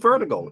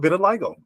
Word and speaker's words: vitiligo: is not leprosy and don't call it vertigo because it's not pronounced vertigo it is called vitiligo but and and vertigo